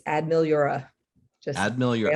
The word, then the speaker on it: Ad Meliora: for those of So you playing along at home, it's Ad Meliora.